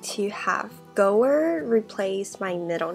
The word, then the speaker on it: Goer: that right go and which sounds like goer and my dad's legal